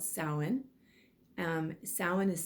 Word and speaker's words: Samhain: go to the next sabbat which is called samhain um salmon is spelt like samhain s-a-m-h-a-i-n but it's pronounced samhain and that is also known as